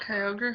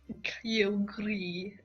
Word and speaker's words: Kyogre: So we don't have Kyogre in the bottomless sea. It's not pronounced Kyogre, you fucking Pachinko. It's actually pronounced Kyogre.